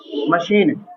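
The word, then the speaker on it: machine: स् निकाल र है यानी कि एच जो है वो साइलेंट है यहां पर सी सा का स्न निकाल रहा है तो मा और शी और ना क्या हो गया मशीन तो यहां पर एच को हम नहीं पढ़ रहे हैं केवल सी को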